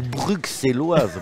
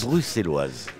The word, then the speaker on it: bruxelloise: beaucoup mieux et y compris l'accent et la prononciation russelloise ou bruxelloises pour les Français mais on dit bruxelloise bruxelloise chez nous oui et on dit même